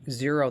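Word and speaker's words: Xero: there's also a uh a program called zero that's it's spelled with an x x e r o and that's free for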